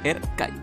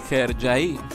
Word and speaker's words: Hercai: la palabra arca y realmente no se pronuncia como se lee esta fue una decisión de la distribuidora quien decidió que al momento de doblarla al espanyol cambió su enunciación a cómo se leen literalmente nuestro idioma es decir como erc hay la pronunciación correcta en turco es sergi o como diría google traductor hi hi el nombre de